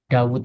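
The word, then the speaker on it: داود: Karena memang Dawud itu penulisannya itu memang enggak wunya cuman satu tapi bacanya panjang ya kan. Dawud bacanya gitu. Kalau penulisannya wya cuma satu. Harusnya tulisan wownya dua.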